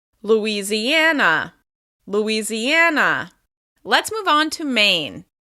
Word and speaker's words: Louisiana: Like Indiana, it's stressed on the second to last syllable. Louisiana, Louisiana, Louisiana.